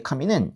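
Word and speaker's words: 紙: 하나님 할 때 카미는 이렇게 카미 이렇게 내려가요. 근데요 종이할 때 카미는 카미 하면서 이렇게 올라가요.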